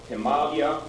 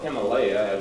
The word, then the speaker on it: Himalaya: is cut off at the top by the Himalayia or Himalaya as uh the really correct pronunciation the mountains which run about 2500 miles across the top of India.